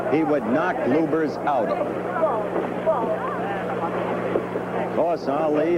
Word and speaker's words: Lubbers: Or Lubers. It's pronounced both ways. Lubbers is probably more technically correct. Anyway, it's the way Rudi wants it said.